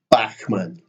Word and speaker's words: Bachman: third choice bachman-turner overdrive notice the Scottish pronunciation Backman Bachman Turner overdrive supported by Thin